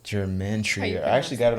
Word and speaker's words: gematria: Yeah, Pronounce it's like it. How gematria.